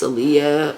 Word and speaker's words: Aleah: my middle name I already told y'all it's aiyah uh it's not spelled like the single Leah it is spelled a